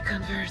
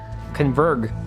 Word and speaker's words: converge: They all seem to converge there. Converg. They all converg there. Did nobody tell her how to say the word converge in English? She literally just said they converg. They all converg there.